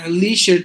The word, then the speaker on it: leisure: pleasure and not Leisure we say Leisure period leisure time now Leisure La because his eye is mute the three like symbol so Leisure pleasure measure so